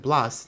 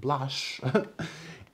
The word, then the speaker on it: Blas: was named after him so it's 100% Blas not blush uh I just don't